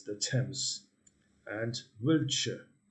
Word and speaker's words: Thames: it has a very it isn't pronounced as it spells like a lot of words right so it's the thames and wiltshire not wiltshire